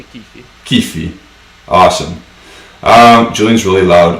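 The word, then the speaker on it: Chiffi: And the referee is Daniele Kifi, or Shifi. How would you pronounce that? Yeah, I would say Kifi.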